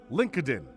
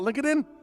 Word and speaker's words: LinkedIn: out after 10 years that linkedin is not pronounced lincoln spent all day wondering how many meetings i said that in link it in hey did you check out linkedin it's linkedin oh link